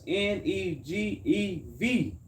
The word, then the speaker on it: Negev: in the cities of, that's crazy, y'all, it's Negev. G-E-V? Negev. I can't even rock with him. Even know how to pronounce that.